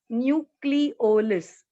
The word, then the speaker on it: nucleolus: That part of the nucleus will be called as nucleolus. How do we pronounce it as? Nu, nu, C-L-E, cle, O is pronounced as simple O and L-U-S as last. So it is pronounced as nucleolus.